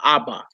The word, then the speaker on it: Abba: If you go by the rules that we go in this book, you hear some people say Ab or Av, but most Hebrews can pronounce father Abba. It's just what it is.